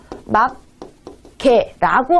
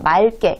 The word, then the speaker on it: 맑게: 막개라고 한다면 이왕이면 두 개의 이 발음을 정확히 온전히 해주는 게 좋지만 우리는 발음의 편의성을 위해서 둘 중에 하나만 남기는 거거든요. 그렇기 때문에 이왕이면 뒤에 기억이 남는 경우에는 기억이 두 번 겹치는 것보다 앞에 리을을 남겨주고 맑게 이렇게 해주는 게 더 효율적이다, 정확한 뜻을 알 수 있게